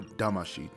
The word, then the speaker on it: Damacy: taking a look at Katamari Damacy or damashii depending on your pronunciation but first let's give